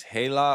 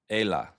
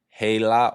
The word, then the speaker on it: Hela: By the way, it's Hela or Ela. Hela or Ela. Or like Ela. You know what I mean? Like, just to give you guys some context, let you know how to pronounce my native name. It is Hela or Ela. All right? But, you know, no matter how people pronounce it, I'm still going to love them. Still going to love you for it, but it's Hela.